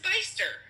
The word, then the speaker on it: Bicester: It's Bicester. I know she's picking on me, and I'm okay with that. Is it Leiceester? No, it says Bicester.